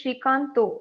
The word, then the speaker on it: Srikanta: So, like if it's Shrikanta in A, it is Shrikanto when we pronounce it.